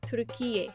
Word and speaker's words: Türkiye: By the way, the correct pronunciation and spelling of the country is Türkiye.